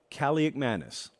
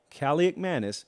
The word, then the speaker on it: Kaliakmanis: Athan Kaliakmanis is my best guess on the pronunciation of the last name right now.